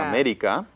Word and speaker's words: América: América. América. So, 4 sílabas.